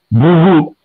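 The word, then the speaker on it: भूः: क्योंकि शांति ही, शांति ही, शांति ही, तो वो कहते हैं, इंसिस्ट करते हैं कि आप जब उच्चारण करें तो ह का उच्चारण होना चाहिए। भूहू, आप गायत्री मंत्र पढ़ते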